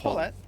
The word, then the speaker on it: Paulette: That's Paulette. Paulette? Okay. Yeah. If I'm mispronouncing it, feel free to correct. Based off of, if I remember correctly, the name Paul and chicken in French?